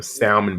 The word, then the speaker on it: salmon: up one of them salmon biscuits downstairs and go hang child the S the L in the salmon is Silent not with me say